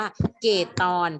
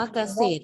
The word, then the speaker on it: เกษตร: ไป เป็น นะ คะ อัน นี้ อ่าน ว่า กะ เสีย ได้ จะ อ่าน ว่า เกด ตอน ผิด ปี มือ ลอย แม่ ค้า ใคร อน เกรด ตอน ผิด เลย นะ คะ แสดง ว่า ไม่ ได้ เรียน วิชา ภาษา ไทย กับ ครู นะ คะ คำ นี้ อ่าน ว่า เกษตร เพราะ ว่า เรา ไม่ ออก เสียง หรอก เหลือ เนี่ย เออ กู